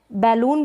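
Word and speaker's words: balloon: यहाँ पर बैलून भी पढ़ते हैं, बैलून, बलून करके भी, और बैलून, दोनों ही प्रोनाउंसिएशन होता है इसका।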